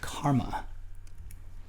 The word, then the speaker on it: CCRMA: in music and acoustics that's abbreviated ccrma and is sometimes pronounced karma and that's me in